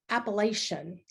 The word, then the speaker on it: Appalachia: The best way to remember how to pronounce it is think about Adam and Eve in the Garden of Eden. Adam looking at Eve and said, "I'm going to throw an Appalachia."